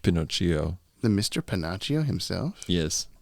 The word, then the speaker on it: Pinocchio: uh what is reality are you panachio it's pronounced pinocchio the mr panachio himself